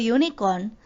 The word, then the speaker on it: unicorn: In this word unicorn, the pronunciation of U is YU.